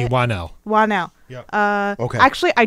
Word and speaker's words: Whannell: Whannell.